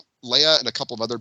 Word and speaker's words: Leia: yeah he's like leia and a couple of other people are constantly calling han solo hand yeah exactly it's they also don't say leia they say leah in this video that's true